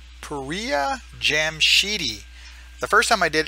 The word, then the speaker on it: Pouriya Jamshidi: I should have watched my first video, so I got the pronunciation the same way, but it's Pouriya Jamshidi.